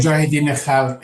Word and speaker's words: Mujahideen-e-Khalq: ask about the MEK, which I'm going to mispronounce this, the Mujahideen-e-Khalq. Did I say that correctly? Mujahideen-e-Khalq Iran, yes.